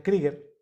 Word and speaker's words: Krieger: nos escuchara David Trigger escribe crieger pero se pronuncia krieger lo que yo he